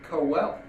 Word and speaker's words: Quehl: I've been mispronouncing your name, Quail." So he went on to pronounce it phonetically as Cowell.